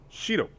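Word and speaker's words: 白: And the color white, this is just as an aside, but the color white is pronounced shiro.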